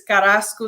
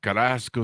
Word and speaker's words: Carrasco: say that right Elaine did I get the Spanish lingo there you're very close you're very close okay give me a correction so I have it right it's Carrasco 67. Carrasco 67 there we go uh Elaine is with